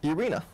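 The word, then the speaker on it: Ureña: Is it Urena or Urania? Urena, yeah.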